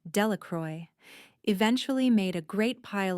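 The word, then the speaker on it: Delacroix: The villagers pronounced this name Delacroy eventually made a great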